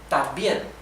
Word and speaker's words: también: This in syllables will be tam, bien, también. So these form the same syllable, right?